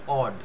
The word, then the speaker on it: odd: It is odd, said Henchard, that odd উচ্চারণটা হবে odd, said Henchard, that two men should meet as